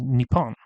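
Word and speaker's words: 日本: In this case, it is pronounced in Japan as Nippon.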